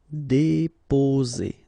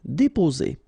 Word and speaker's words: déposer: Okay, only one S between two vowels, so the sound is Z. Déposer. Déposer.